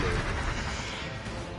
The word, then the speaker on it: Louis: Technically, his name is spelled Lewis, but it's Louis.